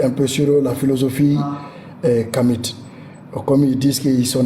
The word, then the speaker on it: Kemite: Bon, parce qu'ils ne savent même pas bien prononcer le mot, parce que le T là n'est même pas prononcé. Voilà. Et on ne dit pas Kamite, on dit Kami.